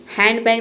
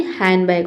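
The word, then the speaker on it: handbag: हैंडबैग नहीं होता है। हैंडबैग होता है।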